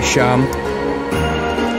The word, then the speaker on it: Seam: Pronounce Sham? Okay, Sham.